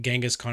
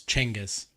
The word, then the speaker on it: Genghis Khan: Genghis Khan is actually the incorrect way to say it. It's like, it's Chengiz, is what I learned from Marco Polo, if anyone else has watched that show.